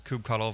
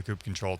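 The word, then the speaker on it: kubectl: the creator of the coop control tool uh shamed everybody at kubecon to 2018 maybe uh and and told everybody it is pronounced coop control and you missed one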